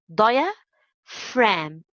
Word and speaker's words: diaphragm: muscle here is cold diaphragm diaphragm via fram the G letter is silent diaphragm okay what is